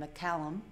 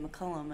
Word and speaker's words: McCallum: His name is Warren McCallum. I always say McCullum, and I say it wrong, and they make fun of me every time.